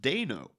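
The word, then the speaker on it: Dano: found out recently his name is paul it's pronounced deno oh okay so i've been saying it right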